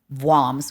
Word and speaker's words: Worms: Vams we're supposed to say vams.